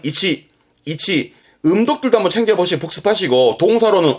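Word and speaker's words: 位置: 발음은 이치.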